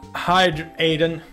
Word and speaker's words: Hydreigon: Also, all his sparks and Hydreigon, that's how you pronounce it.